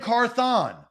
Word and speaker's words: Carthon: carthon uh director and carthon ran carthon three syllables carthon not rancorthon I think it's like Grand carthon okay I'm carthon